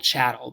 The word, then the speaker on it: chattel: who experienced harsher conditions they were called chattel because it rhymes with cattle they were treated as